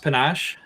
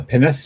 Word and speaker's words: pinnace: He says the lab ship should have I think it's pronounced Panache, Pinacce. A pinnace?